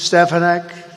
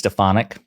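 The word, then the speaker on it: Stefanik: stuff like this great people Warriors really Elise stepan Elise thank you honey that's Elise stonic again a devout Trump supporter a New York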